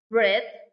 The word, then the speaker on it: celebrate: The last three-syllable words is celebrate. Stress on the first syllable.